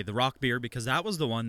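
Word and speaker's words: Rauchbier: rash beer or no it's it's apparently pronounced rock beer no i haven't i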